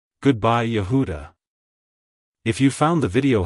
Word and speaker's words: Yehuda: it's pronounced as yahuda Yehuda Yehuda to pronounce it correctly emphasize the first syllable ya and the second syllable who with a slight emphasis on the last syllable da like hello Yehuda goodbye Yehuda if you found the